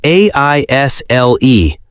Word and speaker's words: aisle: Yes, it is spelled A-I-S-L-E, but we do not say the S. That is true. The S is silent. We say it like I-L, aisle.